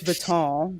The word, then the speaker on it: Vuitton: We know it's Vuitton, but we like to be funny and say it like that.